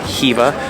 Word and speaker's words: Khiva: Alright guys, welcome to Khiva, or as locals pronounce it, Khiva.